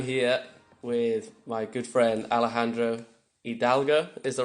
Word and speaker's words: Alejandro Hidalgo: I'm here with my good friend Alejandro Hidalgo, is the right way to say it?